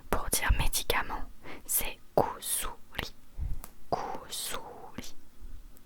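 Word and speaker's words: 薬: Si, imaginons, si tu as besoin de médicaments, pour dire médicament, c'est kusuri, kusuri, kusuri.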